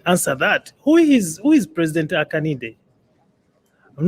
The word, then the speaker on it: Hakainde: Who is President Hakainde? Hakainde. Haka. Let's break it down. Haka and then Inde.